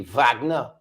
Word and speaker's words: Wagner: They said German Wagner, pronounced to the V, Wagner.